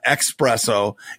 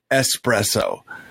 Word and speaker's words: espresso: an occasional espresso and say it correctly please it's not expresso its espresso sorry thank you very